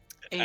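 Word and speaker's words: Eva: Ava.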